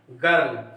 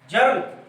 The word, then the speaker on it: girl: सब जानते हैं, गर्ल। कहते क्या है? गर्ल।